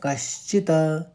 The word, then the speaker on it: कश्चित्: फिर वेद वेद वेद नाचैव, कौ के ऊपर आघात, शॉल पहले निकलेगा, कश्चित कश्चित। अब चौथे पंक्ति को फिर से सुनिए, श्रुत्वाप्येनौ वेद न चैव कश्चित्।